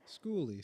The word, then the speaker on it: skoolie: Schooly, spelled like school, but with a K.